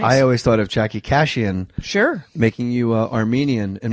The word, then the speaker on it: Kashian: Jackie Kashian rhymes with vacation.